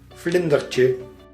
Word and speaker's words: Vlindertje: Vlindertje.